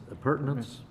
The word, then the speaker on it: appurtenance: building but a mechanical appurtenance. Is that how you pronounce it? Appurtenance. Appurtenance, okay. Long U, okay.